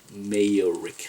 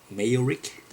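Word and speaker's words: Mayerik: I'm not sure how to pronounce the last name, but Val Mayor Rick, I think is how you pronounce it.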